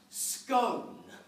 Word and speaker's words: scone: However, it is, definitely, categorically, without a shred of a doubt, it is pronounced scone.